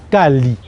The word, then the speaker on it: Caly: Kali, ça c'est dans ma langue maternelle, ça se prononce exactement Kali.